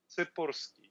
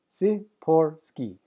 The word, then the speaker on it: Tsipursky: Tsipursky. So, Tsipursky. Tsipursky, with the little roll.